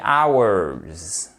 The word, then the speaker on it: hours: faites bien attention puisque le H ne se prononce pas on dit hours OK et non pas